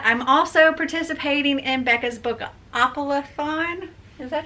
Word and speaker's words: Bookoplathon: not just that i'm also participating in becca's book opelaphone is that how you say it bookoffullathon yes so i have this as well and